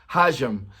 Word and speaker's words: hajime: HAJIME.